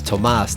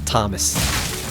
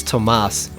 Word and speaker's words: Tomas: By the way, the dragon that was here is Tomas, not Thomas. People make that error sometimes, but it's Tomas, because you see there's no H in the name.